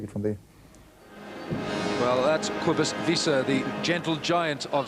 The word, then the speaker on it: Cobus: But one thing that struck me, we all think of Cobus, thank you for the pronunciation, Alan, Cobus, that he's not as enormous as Martin Bayfield,